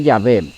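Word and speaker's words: Yahweh: león décimo en 1518 las investigaciones modernas indican que la pronunciación original fue llave fue así que hacia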